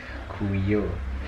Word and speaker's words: Kuyo: I say it like it has two U's. Kuyo.